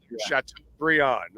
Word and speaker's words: Chateaubriand: Instead of Brian, it's pronounced Briand. Okay, Yeah. so Chateaubriand.